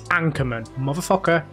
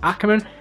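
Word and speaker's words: Ackermann: in drifting on CarX it's Anchorman it's Ackerman Ackerman Ackerman read it properly damn it now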